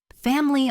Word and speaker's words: family: Family often sounds like family.